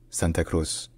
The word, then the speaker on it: Santa Cruz de la Sierra: the city in Spanish is actually Santa crus Santa crusier but is common to hear a short name which is just Santa Cruz Santa Cruz Santa Cruz